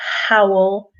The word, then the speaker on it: howl: So be careful with pronunciation here because, howl has the h sound at the beginning, and owl, of course, is the animal without that sound.